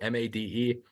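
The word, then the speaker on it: Jesús Made: I want to say it is Made. It's spelled like Jesus Made, which is a pretty sick name if it was pronounced that way.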